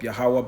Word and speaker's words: Yahawah: power the power of Abraham Isaac and Jacob yahawah bahasham yahawashi all right the elect will have